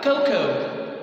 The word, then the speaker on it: cocoa: So we have cocoa. Cocoa, okay? Cocoa, okay? I pronounce it again, Coco.